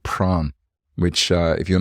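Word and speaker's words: Prahran: was down in Melbourne at a place called pran which uh if you're not from Melbourne is is spelled nothing like it's pronounced and I was calling prahan for a period of time but this session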